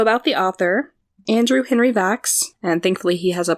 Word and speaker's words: Vachss: web pages so about the author Andrew Henry VAX and thankfully he has a pronunciation guide for that last name of his